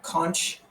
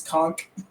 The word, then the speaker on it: conch: you didn't touch you I'm shocked at how many people pronounce that cont uh since starting this podcast I grew up in Florida and it's conch no oh gross no no way con it up online it's it says the correct one is conch words are pronounced how